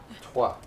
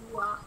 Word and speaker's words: trois: Trois. Okay, so you have trois. Trois. Do you actually hear the W? Like, twa.